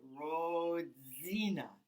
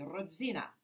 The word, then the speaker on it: Rodzina: i said rodzina no you said roadzina should be rodzina like this roxina she looked at